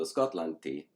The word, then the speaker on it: Skotlanti: So, Skotlanti is how you say Scotland in the nominative.